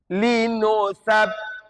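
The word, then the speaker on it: لِنُثَبِّتَ: Linusabbita, karena di sini ada huruf sa. Iya? Tartilkan bunyinya.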